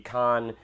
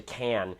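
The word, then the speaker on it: Cannes: a last minute thing I'm headed to the Khan film festival and film Market in about a week or so here and it's funny I know Khan is the correct pronunciation but I always say can because when I say Khan I feel like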